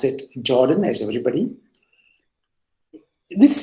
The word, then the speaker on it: Jordan: composition series as we saw here now this Jordan holder theorem Jordon maybe I should say but let's pronounce it Jordan as everybody this says that if I two